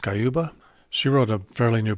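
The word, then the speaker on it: Sciubba: I was pretty disappointed to see in Jennifer, I think it's pronounced Skyuba.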